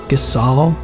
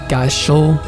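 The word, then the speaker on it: Gysahl: I finally learned it's pronounced Gasal, not like Gashul, or I don't know what I pronounced it before. It's Gasal.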